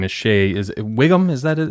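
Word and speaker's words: Whigham: of a household name is shay is it wiggum is that how you pronounce him yeah yeah he everything he's in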